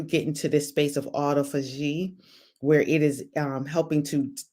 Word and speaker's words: autophagy: Okay, autophagy. Thank you, autophagy. She spelled it out to me phonetically.